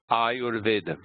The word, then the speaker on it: Ayurveda: The U in Ayurveda is a short vowel. U is a short vowel, but it's followed by a consonant combination, the R plus V, and that makes it long. So it's Ayurveda.